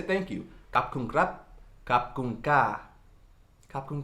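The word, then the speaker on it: ขอบคุณครับ: Kap kun krap, kap kun ka, kap kun ka.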